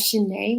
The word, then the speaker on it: Chané: So it's my songs are on all digital platforms, on Spotify, Apple Music, and just as Shanae with the accent on the E, and Yes.